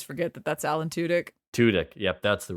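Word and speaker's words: Tudyk: I do always forget that that's Alan tudk tudk yep that's the right pronunciation uh like he the man voice acts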